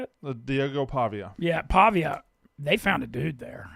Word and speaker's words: Pavia: that how you say it Diego Pavia yeah Pavia they found a dude there and getting him